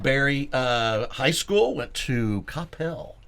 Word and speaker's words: Coppell: High school, went to Coppell. You said it right. Coppell. Coppell. What do you normally hear? Well, you hear people say Coppell or Capel. That's all the out of staters.